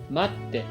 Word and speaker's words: 待って: When you see the small tsu in a word, you actually do not pronounce it, but pause slightly before saying the next sound.